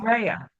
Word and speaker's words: Rhea: It's Rhea, which Rhea.